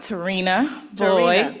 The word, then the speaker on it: Terrina Boyd: My name is pronounced Terrina Boy.